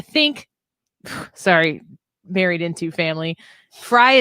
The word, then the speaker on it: Frey: sorry married into family Frey is the German pronunciation I would assume I think so that is the way we say it but I know a